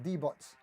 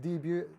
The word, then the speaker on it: Debut: The good thing about the Sunburst one is because all of the Squier D-Butts, I know it's pronounced debut, I'm just having a bit of fun.